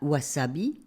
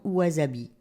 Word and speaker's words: wasabi: La convention de transcription phonétique du japonais veut qu'un S se prononce S et non Z, même s'il se trouve entre deux voyelles. De la même manière, on dira wasabi et non wasabi.